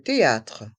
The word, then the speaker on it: théâtre: supermarché le supermarché le théâtre le théâtre dans ce mot le H est muet le théâtre le théâtre